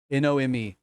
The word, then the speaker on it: Nome: Nome, Nome.